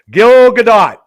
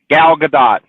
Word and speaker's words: Gal Gadot: her name I always mess her name up Gil Gadot yes did I say it right Gal Gadot Gal Gadot Gal Gadot I I don't know